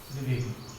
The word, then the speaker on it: द्विवेदी: द में हलंत है तो इसका अर्थ है द आधा है, द्विवेदी, द्विवेदी, सोहनलाल द्विवेदी। द के नीचे हलंत का है, इसलिए द का उच्चारण हम लोग कम कर रहे हैं।